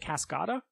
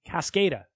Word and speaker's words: Cascada: Is that how you say it? Cascada? I don't think so. I don't think it's a soft A. Cascada.